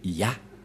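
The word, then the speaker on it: יה: La prononciation de ce terme est ceci, c'est Ya.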